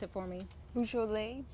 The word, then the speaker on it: Beaujolais: Beaujolais? Beaujolais bonnets, yeah, like the wine.